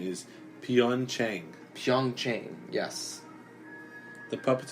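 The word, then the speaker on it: Pyeongchang: dapper net that for the predict the correct pronunciation is pian Cheng Zhong Shan yes the puppets in this section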